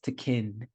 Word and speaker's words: Tekken: It's the pronunciation is Tekken, right?